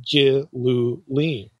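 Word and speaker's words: גִּלּוּלִים: And they would insert those vowels between gl and that's where you get g len.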